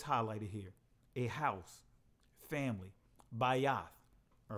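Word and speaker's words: בית: household mean all right by us or by yes by assistant modern pronunciation but by off that's what I'm going to stick to the ancient pronunciation by yacht it means a house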